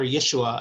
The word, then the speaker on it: Yeshua: trying to teach people or yeshua i should say it's a there's a better way to say his name yeshua trying to teach